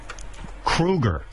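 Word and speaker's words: Kroeger: And Chad, you know, your last name is Krueger.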